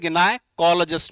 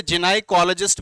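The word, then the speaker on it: gynaecologist: हम इसे क्या बोलते हैं, गिनाइकोलॉजिस्ट बोलेंगे, गिनाइकोलॉजिस्ट, गिनाइकोलॉजिस्ट, ठीक है। वैसे जिनाइकोलॉजिस्ट भी यहां पे वोकैबुलरी लिखी गई है, इसको जिन से भी लिखा जाता है वो, बट कंट्री वेरिएंट्स होते हैं कि अलग अलग कंट्री में अलग अलग तरीके का प्रोनाउंसिएशन होता है।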